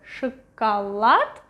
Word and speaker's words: шоколад: This one is next to the stress syllable. Шоколад, pronounced as A. This one is something like in between.